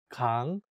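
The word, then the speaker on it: Gangwon: to pronounce it correctly make sure to say kang for the first syllable not like gang um i can hear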